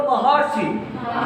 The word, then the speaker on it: महर्षि: अर्ध का मतलब जैसे मैंने लिखा महर्षि, ये देखिए ये ऐसे रहेगा ऊपर, और उच्चारण करोगे तो अर आएगा। बोलो महर्षि, अर है ना।